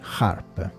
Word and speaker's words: HAARP: manco vi è e si chiama harp si scrive h a a RP harp Ok bene Ora sicuramente